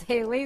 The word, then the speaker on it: Hallie: be calling it called haley then i'm like okay i'll take it yeah you pronounce it right right right sally like and you grew up